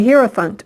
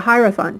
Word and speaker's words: Hierophant: This card is one of the major energy archetypes in the tarot, and it's called the Hierophant or the Hierophant, depending on however you want to pronounce it.